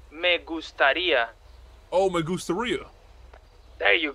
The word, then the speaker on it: me gustaría: No, not diarrhea, man. Me gustaría.